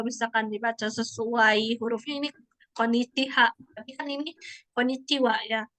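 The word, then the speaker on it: こんにちは: Jadi konnichiwa kayak gitu. Makanya ini dibacanya bukan H gitu, tapi wa.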